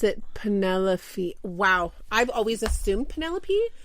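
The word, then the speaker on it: Penellaphe: I wonder if they pronounce it Penelopey. Wow. I've always assumed Penelope, but maybe it's such a light F that I don't.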